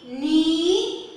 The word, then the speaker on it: knee: N, E, knee. Here K and N together they say N. And here K is silent.